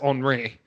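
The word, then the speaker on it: Henri: we've had a henry before so yeah it's pronounced andre i hope they do that like i love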